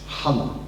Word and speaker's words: chala: Put a dot underneath the H to represent het. It's not the same as CH chala. It's chala with a dot underneath.